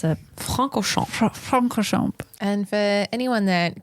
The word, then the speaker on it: Francorchamps: So how you pronounce it? Francorchamps.